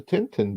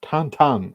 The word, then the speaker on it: Tintin: end the thing with the Tintin books or tantan as uh it's more correctly pronounced as Paul chato uh